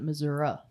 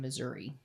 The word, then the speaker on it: Missouri: That pronunciation is primarily associated with residents of the southern and rural parts of the state, particularly those from the Boothil region. It's a remnant of older pronunciations influenced by Native American languages. Cool. But, uh, northern and urban areas is the more common Missouri.